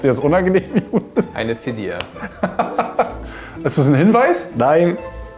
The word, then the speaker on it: Fidya: Fidya ist richtig ausgesprochen? Ja. Wallah ist Fidya.